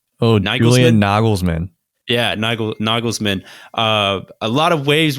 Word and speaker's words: Nagelsmann: oh now you william noggles man yeah nigel nagelsmann uh a lot of waves went out about